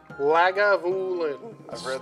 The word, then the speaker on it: Lagavulin: spelling i don't read lagavulin it's pronounced exactly how it's spelled i don't read